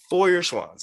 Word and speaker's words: Feuerschwanz: here to talk about foyer swans and did i say it that's it right first of all yeah yep pretty good so speaking to the